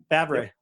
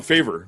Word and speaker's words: Favre: Favre. Well, they called him Favor. They called him Favor or something like that on TV. They didn't know how to say his name right.